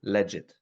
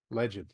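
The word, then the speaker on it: Legid: pronounce it differently uh mostly we call it leged leged okay like leged yes but you you can pronounce it uh as you like because uh the uh word leged derives from uh two words legal and ID oh okay that that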